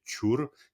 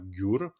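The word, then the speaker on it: འགྱུར: Exactement, parce que Ngunsumtu Jur, Ngunsumtu Chur, si on le prononce vraiment en la tibétaine, c'est Chur et non pas Gyur, parce que c'est bon.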